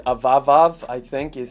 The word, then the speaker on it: Avavav: If you guys didn't know, the brand's name is Avavav, I think is how you say it, or A-V-A-V-A-V.